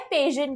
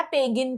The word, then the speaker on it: pagan: पेजन कहते हैं या पेगन कहते हैं. Okay, so you can pronounce it any which ways.